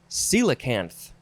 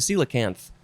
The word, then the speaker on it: coelacanth: So the first word, the real first word, is coelacanth. It's spelled fun.